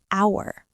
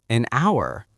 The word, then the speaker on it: hour: Oh, the H is silent. It sounds like hour, so it sounds like a vowel sound. So, we say an hour, an honest answer, an honor.